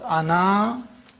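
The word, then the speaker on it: أنا: words this means that the alif is not pronounced in continuous reading but it is to be pronounced in the pausal form when you pause ana you read the alif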